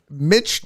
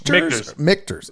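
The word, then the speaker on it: Michter's: you pronounce this is is this mitch mikters okay like like a like a k okay and it's just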